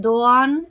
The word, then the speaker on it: Doğan: Ya comenté en un video anterior que la "G con el cuernito", como lo digo yo, o la "G suave" de los turcos no se pronuncia y se estira el sonido de la vocal anterior y en el caso del nombre de ella, la "C cedilla" es el sonido español "ch", así que es "Dooan" y Chaala", así se pronuncia.